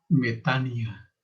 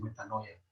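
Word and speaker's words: μετάνοια: cuyo nombre en griego se escribe metanoia, pero se pronuncia metania. Escúchenlo bien, se pronuncia metania. Yo he oído muchos predicadores que dicen metanoia.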